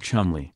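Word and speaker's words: Cholmondeley: of Coleman de lis which is somehow pronounced like Chumlee but it seems the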